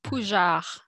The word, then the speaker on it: Pougeard: It's Pougeard. Yeah. Kevin can't pronounce my last name.